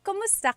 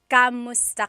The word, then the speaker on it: kumusta: If you hear my pronunciation and then other people, when they say it, usually they say kamusta ka? Kamusta ka. So it sounds like it's spelled with a letter A, K-A-M, but technically it's spelled with a K-U-M.